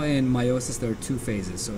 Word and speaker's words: meiosis: that's not about meiosis meiosis sounds like mitosis it's a lot like mitosis but it also has a lot of differences there's a lot of differences between the two sometimes it's pronounced Mayo sis but I like to